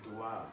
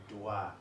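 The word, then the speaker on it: Doğa: silence g you know their soft g so it kind of extends the o in the name so dua like dua it means nature and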